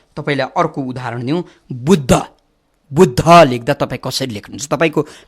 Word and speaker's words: बुद्ध: तपाईँले गर्नुपर्छ के भने ब को बु लेख्नुहुन्छ, द लानुहुन्छ, दैलो द भनेर हामीले पढे जस्तो द लानुहुन्छ र दलाई खुट्टा काट्नुहुन्छ अनि ध लेख्नुहुन्छ। बुद्ध दलाई तपाईँले आधा उच्चारण गर्नु पर्यो।